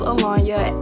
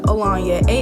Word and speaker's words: Alonya: And if you don't know who I am, my name is Alanya, AHLAWNYAHXO. In real life, my name is spelled Alanya, ALONYA.